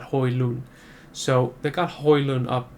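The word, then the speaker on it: Højlund: got hoilun and yeah it's pronounced hoyland apparently not hoyland but hoi loon so they got hoylan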